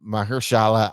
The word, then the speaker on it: Mahershala: But Leave the World Behind, and this is starring Julia Roberts and Mahershala Ali.